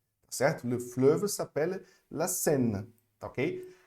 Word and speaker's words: fleuve: Ó, você faz a boquinha do O e pronuncia o E, ok? E. Então, le fleuve, tá certo? Le fleuve s'appelle la Seine, tá ok?